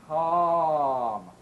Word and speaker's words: calm: We need to pronounce our number five vowels with much larger openings for a big round ah sound.